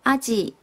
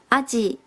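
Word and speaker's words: 鯵: 这一条呢是竹夹鱼，日文是念作阿吉，阿吉。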